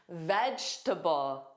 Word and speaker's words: vegetable: Which vowel don't you hear? Well, you don't hear that middle e. You hear it more as a reduced sound.